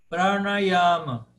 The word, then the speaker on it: Pranayama: Pranayama. Pranayama. Pranayama. Yama. Paroxítona. Pranayama. Quinto item.